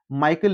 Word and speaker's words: Michael: You can pronounce Michael Lewis or Michel Lewis.